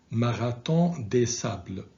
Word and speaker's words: Marathon des Sables: They are Continental Divide, 6633 Ultra, and please pay attention to the pronunciation of this marathon because it's French, and in French it is pronounced Marathon des Sables, okay, which means Marathon of the Sand.